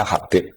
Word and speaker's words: Habib: Itu di harakatnya kitab itu ada yang nulis subab. Tapi yang benar Oh, nggih. Yang benar itu bacanya Habib.